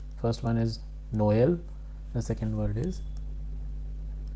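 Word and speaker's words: Noël: And both the vowels are pronounced separately.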